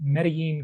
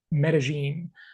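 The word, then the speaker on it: Medellín: to you from beautiful medine Columbia or as the locals say medene I just can't quite get myself to pronounce it that way but that is the correct way anyway got a couple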